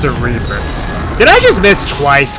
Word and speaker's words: Cerebrus: it's a Cerberus, but its name in the card game is Flame Cerebrus. I'm not sure where they got that from. Yeah, it's pronounced Cerebrus.